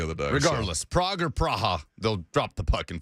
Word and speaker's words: Praha: He says the correct pronunciation is Praha. So like pra-ah, like P-R-A-A-H, like hyphen A-H?